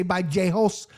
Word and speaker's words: Vallejos: I don't need to say by Jost. I like saying with the the perfect pronunciation. Fine. I'll stick with J host the whole time.